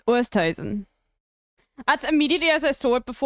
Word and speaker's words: Oosthuizen: She's probably going to post a TikTok about how to pronounce her surname. It's Oosthuizen.